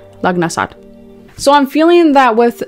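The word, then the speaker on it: Lughnasadh: And you've got number 11 reversed from this deck, which is Lungansta. I can never pronounce this one. It's Lugnasad.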